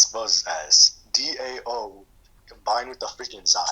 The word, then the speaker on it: dao: It's a, okay, this is how it's spells as DAO combined with the freaking Zai. DAO?